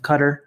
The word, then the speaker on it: Qatar: this segment is sponsored by the kingdom of Qatar or Qatar depending on how you wanna pronounce it they will be getting John and